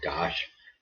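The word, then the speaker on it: Dach: that and you know Dosh or Dobbs Dodge they seem to say Dosh for the pronunciation of his name he got he took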